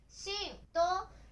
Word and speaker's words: 新: Nó có thể được đọc là" atara_shi "hoặc" shin.